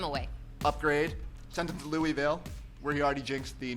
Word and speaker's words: Louisville: That's how you say it, by the way. Louisville. Louisville? Louisville. Louisville? Louisville. That was St. Louis. That's the Louis.